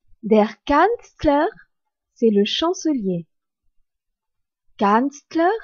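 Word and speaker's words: Kanzler: e r vide der Canler c'est le chancelier kanstler s'écrit K a n Z l e r dit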